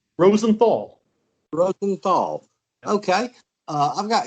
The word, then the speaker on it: Rosenthal: I'm your host, Chris, and I've got Harold Rosenberg with me. Did I pronounce that right? Rosenthal.